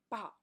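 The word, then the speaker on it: 报: and that means bag but if you say bow the fourth tone straight down that means newspaper so everything's depend on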